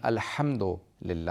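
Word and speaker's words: الحمد لله: کو صحیح ادا کرنا، کہ الحمدو نہیں ہے، الحمدللہ ہے، رب العالمین ہے، عالمین نہیں ہے.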